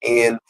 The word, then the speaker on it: Niger: Well, the Niger part I researched is actually Niger. When you go into the pronunciation, it's Neegeer.